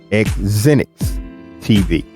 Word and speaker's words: XZINX TV: So a lot of people don't know how to pronounce it, but it's XZINX TV.